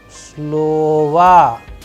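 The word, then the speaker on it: слова: slova please pay attention to the udarene or the stress sign falling onto a particular vowel like in this case it is falling on the first o that is why the sound and the pronunciation of this particular word is like slova slova that is why the last o is being changed into as if it is ah all right now we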